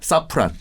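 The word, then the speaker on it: Safran: 사프란. 사프란. 예. 그 섬유유연제 아닙니까? 뭐 같은 거의 샤프란. 사퐁이라고 뭐 발음을 하더라고요.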